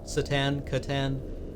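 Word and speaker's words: C'tan: Catan. I guess it's a hard C. I prefer the soft C.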